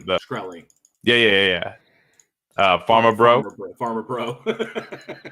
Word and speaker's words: Shkreli: Shkreli.